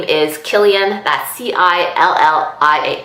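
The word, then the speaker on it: Cillian: he's silly no it's not silly and it's Killian it's a hard see but I know it's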